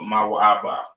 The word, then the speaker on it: Moab: Pronounced Mawa'aba, right? Mawa'aba is Moab, right? So y'all can see that. Moab or Mawa'aba, right?